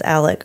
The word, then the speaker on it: Alex: And he pronounces it himself as Alec or Alec. Because, you know, it's like Alec. It's just the way, the drawl that people have.